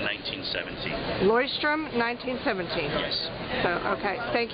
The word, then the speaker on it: Leuchtturm: The brand is pronounced Leuchtturm. Leuchtturm 1917. Leuchtturm 1917.